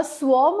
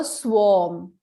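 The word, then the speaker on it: swarm: रुकिए, सबसे पहले देखिए बच्चों, अ स्वॉर्म ऑफ इंसेक्ट्स होता है। अ स्वॉर्म, स्वार्म नहीं, स्वॉर्म, आर साइलेंट होगा बच्चों, ठीक है?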